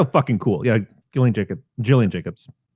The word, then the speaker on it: Gillian: yeah Gillian take it Gillian Jacobs I don't know if she's the soft she or I mean when I look at her I'm a hard G I said that for